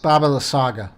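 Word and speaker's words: Baba Lysaga: Baba La Saga.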